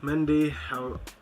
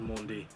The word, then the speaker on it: Mendy: Mendy, I'm pretty sure it's pronounced Mondi.